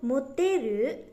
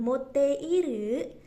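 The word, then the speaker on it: 持ってる: Contoh, jisho moteru, jadi bacanya bukan moteiru, jadi i-nya bisa diilangin.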